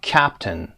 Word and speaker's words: captain: استرس رو ببینید در قسمت اول cap, captain. صدای آی رو هم تلفظ نمی کنیم، میگیم captain. captain.